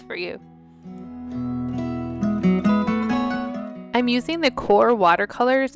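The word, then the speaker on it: QoR: here it is for you i'm using the core watercolors it's spelled q-o-r they're by golden one of my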